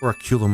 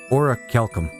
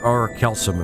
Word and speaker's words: Orichalcum: Last one is the Oraculum, or whatever it's called. Orichalcum. Orichalcum. Or Orichalcum, if people want to pronounce it like that.